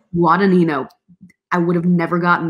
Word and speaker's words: Guadagnino: oh my goodness say that one more time guadagnino guadagnino i would have never gotten that phonetically with nino uh exactly so he is